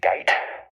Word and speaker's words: Guite: and thor malcolm i think his last name is pronounced gait but it's funnier if i say malcolm get so i'm gonna call